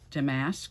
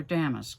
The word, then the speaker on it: damask: This is a piece of damask or damask. It depends on how you want to pronounce it. D-A-M-A-S-K. I've heard damask, and I've also heard damask.